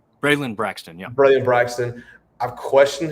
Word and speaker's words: Braylon Braxton: Braylon Braxton, yeah.